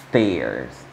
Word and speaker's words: stairs: Y para pronunciarlo correctamente, debemos exagerar el sonido de la S. Stairs.